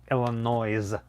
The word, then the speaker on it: Illinois: louis how dare you if you pronounce the s in saint louis how come you cannot pronounce the s in illinois illinois don't you dare oh